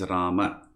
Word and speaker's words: Rama: the word is rama the word is rama not not ram ram is the hindi pronunciation in sanskrit there is always the